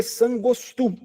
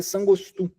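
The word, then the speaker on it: saṅgo 'stv: Imagina que o V, quando ele está no final, ele tem o som de U. Quando ele não é o começo da sílaba. Quando ele é a segunda letra da sílaba. Ele tem o som de U. Então é mate sangostu.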